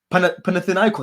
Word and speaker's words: Panathinaikos: Panathinaikos is how you pronounce it, people.